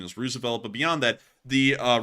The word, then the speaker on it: Roosevelt: you know and that's also the correct correct pronunciation is Rosevelt but beyond that the uh Rosevelt carrier strike